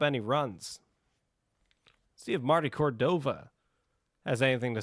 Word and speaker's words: Cordova: Marty Kova might score. Marty Cordova might score. That's how you pronounce his last name.